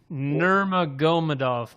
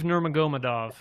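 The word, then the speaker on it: Nurmagomedov: So, this is how you pronounce it. Nurmagadov. Kabiv. Nurmagadov.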